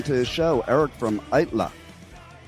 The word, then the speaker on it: Aittala: So, let's welcome to the show Eric from ITLA.